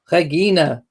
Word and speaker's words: Regina: PM Smile says, my kids and I know Latin, although Canadian city is pronounced Regina.